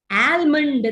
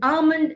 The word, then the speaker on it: almond: so it's atmosphere atmosphere it's not almond the law is silent the it is not add there it is our almond almond is the right pronunciation lamb the ba is